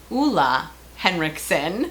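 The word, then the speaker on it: Ole Henriksen: It is by Oola Henrikson.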